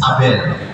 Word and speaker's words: Abel: Abel? Mrs. Pan, how do you pronounce your husband's name? Abel. According to my teacher, it says Abel. It's correct.